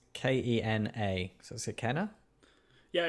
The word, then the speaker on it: Kena: And I'm sort of seeing that with Kenya or Kenya. I can't actually remember how the pronouncement is. It's Kena.